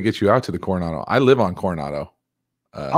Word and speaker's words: Coronado: You can throw it past the corona. How do you say that? Corona? Oh man, you probably think it's La Jolla too. No, Coronado Islands.